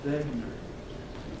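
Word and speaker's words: Wegener: to remember his name it was Alfred loar begner W is pronounced as a p because he's German and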